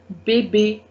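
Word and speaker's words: bébé: the next one is baby baby a a a sound you need to give baby bb means baby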